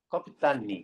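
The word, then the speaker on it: 꺼삐딴: 캡틴의 소련너 발음이 커피딴입니다. 그래서 박터리 커피딴 그래서 이인국 박사 그래서 이인국 박사는 어떤 삶만 살냐면요.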